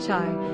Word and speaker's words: chai: Het yod spells the word chai, sometimes pronounced like the English word hi, which is a word and symbol that means life.